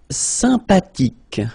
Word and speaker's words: sympathique: Sympathique. Remember the H is not pronounced.